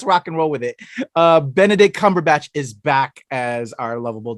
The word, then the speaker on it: Benedict Cumberbatch: But you said his name wrong. It is Benedict Cumberbatch.